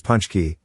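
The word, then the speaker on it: pączki: Pronounced as punchki, this popular Polish desert is a donut-shaped pastry filled with rose hip or stewed plum jam.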